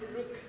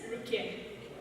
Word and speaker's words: Rukian: Hi, just so you know, my name is not Rrook, it's pronounced as Rukian.